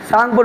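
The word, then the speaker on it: Tsangpo: কি বললাম সাংক আচ্ছা সাংকর শুরুটা আছে তোমারটি দিয়ে আছে কিন্তু এখানে টি কিন্তু সাইলেন্ট থাকে যেমন তোমার আমরা সাইকোলজি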